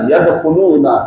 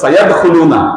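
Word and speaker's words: يدخلون: ওয়া রাআইতান নাসা ইয়াদখুলুনা ফি দীনিল্লাহি আফওয়াজা, এটা রাইট। আপনি যদি বলেন সায়াদখুলুনা, কি এখানে আপনার ভুল হবে।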